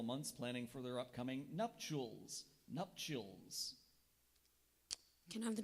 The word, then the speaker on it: nuptials: language of origin Latin are there any alternate pronunciations there is nups nups or nups could you repeat the